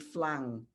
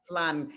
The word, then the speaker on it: flan: My story is I keep saying flan, and they say, no, it's flan. It's something I don't even hear the difference between the N and a NG, but that is a pronunciation that I have to watch.